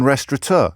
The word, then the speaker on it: restaurant: and by the way there's no n in restur did you know that did you know that restaurant with an N rest no n did you know that